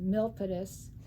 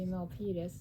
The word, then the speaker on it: Milpitas: Milpitas, which we never heard of, so we pronounced it Milpitas. We weren't sure how to pronounce it, but it turned out to be Milpitas.